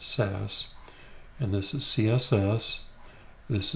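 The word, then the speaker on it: Sass: and here's the new SAS SC CSS it's pronounced SAS and this is CSS this is the default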